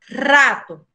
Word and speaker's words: rato: Lembra que habíamos comentado, o R no inicio de la palabra tem son forte. Entonces, você pronuncia rato.